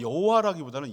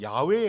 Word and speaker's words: 야훼: 그래서 정확한 언어를 추정하면 여호와라기보다는 야훼에 가까워요. 야훼, 발음상으로 보면.